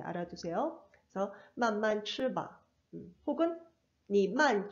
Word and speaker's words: 慢慢: 만만吃. 원래 이렇게 형용사, 단음절 형용사를 중첩시키게 되면은 뒤에 성조가 일성으로 바뀌어요. 그리고 얼화음이 돼요. 만말 이렇게 바뀌거든요, 발음이.